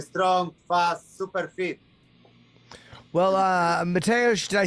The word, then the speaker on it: Mateusz: Well, Mateusz, did I say it right? Am I saying it properly? One more, please. Mateusz, did I say it right?